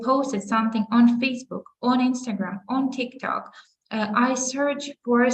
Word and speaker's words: Instagram: Ну, тобто, ми вимовляємо назву соцмереж, наголошуючи перший склад. So we say Instagram, Facebook, TikTok, YouTube, content, laptop, internet.